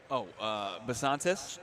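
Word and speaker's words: Bisontis: How do you pronounce Chase's last name? Basantis.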